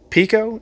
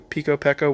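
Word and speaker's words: Peco: I believe this is Pico, is how it's pronounced. P-E-K-O, Pico, Pecco, whatever it is. I'm going to call it Pico, because that's, the easiest. So, this is a piece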